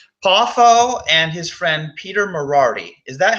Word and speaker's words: Moriarty: See, Poffo and his friend Peter Moriarty. Is that how his name is said? I think it's Moriarty. Moriarty. Okay, yeah, I said it right the first time.